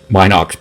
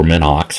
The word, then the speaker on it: Minox: I just never or Minox I think it's pronounced in an ox but I've learned it the other way so that's why I'm